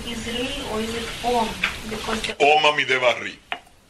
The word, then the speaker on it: Om: The Sanskrit is A-U-M, but nobody, it's pronounced Om.